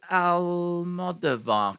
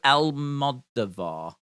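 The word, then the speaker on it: Almodóvar: is that how you say his name Pedro al-modovar collection yeah I've just seen a box set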